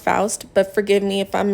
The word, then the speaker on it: Faust: I believe her last name is pronounced Faust, but forgive me if I'm mispronouncing it.